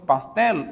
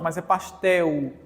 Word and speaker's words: pastel: dos estados brasileiros gente o l em fim de palavra também é semivogal pastel estamos falando de fonética Então nesse caso esse L aqui é uma semivogal ninguém pronuncia mais pastel se fosse pastelo aí seria consoante mas